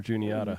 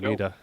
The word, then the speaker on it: Juniata: PA knowledge, knowing the right pronunciation for Juniata? Feel better. Yeah, and I got it right. I've like, always like called that. her Juanita.